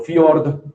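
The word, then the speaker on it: fjord: igual en español y la J normalmente cuando la ven metida en mitad de una palabra tiene el valor de una i. ¿Sí? Entonces, ejemplo, fiord, que es fiordo la tienen ford es como si fuera una i que no se no vayan uno ahí a morderse la lengua pronunciando eso de hord.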